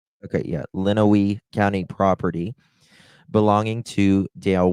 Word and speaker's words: Lenawee: I hate just not pronouncing the thing correctly. Okay, yeah, Lenawee County property belonging to Dale Warner.